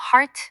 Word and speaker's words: heart: 예외의 경우, 예를 들어 heart, 마음은 ear이 들어갔지만 heart라고 소리가 나요.